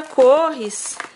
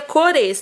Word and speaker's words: cores: final do kit da corres do kit da corres que na verdade você pronuncia cores tá gente só que eu falo corres porque não sei eu leio corres e peguei o hábito